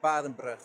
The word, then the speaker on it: Barenbrug: For Making a video about Barenbrug. How do you pronounce it? Is it Barenbrug or Barenberg? you pronounce it Badenbrug.